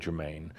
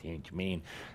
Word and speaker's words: Saint-Germain: Mostly St. Germain – Saint-Germain (French pronunciation), dear Cauldre, “St. Germain” (laughter, as Adamus exaggerates the American pronunciation).